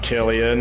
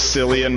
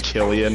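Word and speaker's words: Cillian: up I think it's pronounced Killian it is pronounced Killian yeah I used to think it was San myself but then I heard but then somebody I went to high school with said Killian and I found out yeah that's the correct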